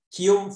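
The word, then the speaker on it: Guillaume: 그래서 이게 이걸 기욤이라고 읽는데 이게 저는 프렌치를 배운 적이 없어서 이 프렌치 하는 사람들 너무나 위대해 보이거든요. 이걸 어떻게 기욤이라고 읽나? 기욤 파렐. 영어로 말할 때는 윌리엄 파레드. 그러니까 윌리엄이라는 말의 이 불어 발음이 기욤인 거예요.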